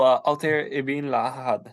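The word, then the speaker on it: Altaïr Ibn-La'Ahad: Oh, Altair ibn Lahad.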